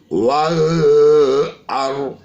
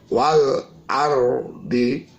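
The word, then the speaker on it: وَالْأَرْضِ: Wal ar, alif lam diikuti huruf hamzah. Jadi kita tidak baca wal a, tidak baca wal am, wal ardi.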